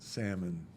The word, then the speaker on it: salmon: Salmon, salmon, salmon.